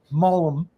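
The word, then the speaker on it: mulm: And now that I got the phosphate and the nitrate down with that mullum there, I like to make it two syllables. Um, mullum.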